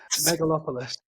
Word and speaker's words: Megalopolis: mopolis mopolis yeah you don't you try and pronounce it megalopolis right with Adam Driver and it's being held